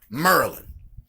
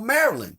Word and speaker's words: Maryland: say Baltimore Maryland Not Baltimore Maryland but Baltimore Merlin and I mean people that's all over the country they say it right they say Baltimore Maryland to give you an example when I was